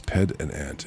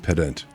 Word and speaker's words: pedant: It's ped and ant. It's just like, anyways. Pedant. Oh, is it pedant? We're going to look this one up now. My syllables are broken, I think. Listening. Pedant. It's just pedant.